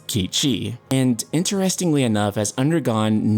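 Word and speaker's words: Cait Sith: some people mad but Cape she will be pronounced as kiichi and interestingly enough has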